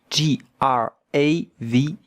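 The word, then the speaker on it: grave: J A V G R A V E gra. But the E at the end, we don't hear it. And look at how to pronounce it. Grav with the French R.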